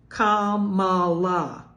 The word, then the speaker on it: Kamala: And as to the comment we don't know about mispronouncing a how many syllable name, Kamala. It's only 3.